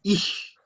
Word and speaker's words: ich: Cuando tenemos la C y la J, la C y la H, es como si tuviéramos una C y una J. Entonces suena J. Entonces, ich.